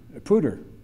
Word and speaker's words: Poudre: And as for the third winner, it's pronounced Poudre, right? Poudre.